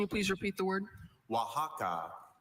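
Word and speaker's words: Oaxaca: Wajaka. Can you please repeat the word? Wajaka.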